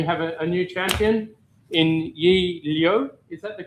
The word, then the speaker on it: Yi Liu: We have a new champion in Yi Liu. Is that the correct pronunciation?